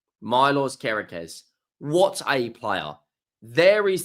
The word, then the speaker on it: Kerkez: the Serbian left back I think it's pronounced kerz Milo kerz what a player there